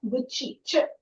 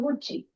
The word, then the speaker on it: Gucci: otherwise c i but because it's an Italian brand pronounced as CCI is pronounced as Gucci. Okay, that sound. So, Gucci.